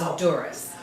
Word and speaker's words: Dzuris: silent Z, so it's Dzuris.